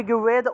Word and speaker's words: ঋগ্বেদ: এই যে আমরা ঋগ্বেদ বলি না? ঋকবেদটা কিন্তু ঋগবেদ উচ্চারণ হবে না। এটা ঋগবেদই উচ্চারণ হবে। ঋকবেদ। ঠিক আছে? ঋগ তারপরে বেদ উচ্চারণ। ঋকবেদ। ঋগ্বেদ। এভাবে উচ্চারণটা হবে।